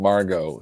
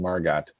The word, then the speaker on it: Margot: uh thank you okay I heard a meteorologist pronounce the T on her ago hurricane Margo so hurricane Margot okay then what are